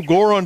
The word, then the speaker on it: Goron: No, Goron doesn't rhyme with moron for a reason.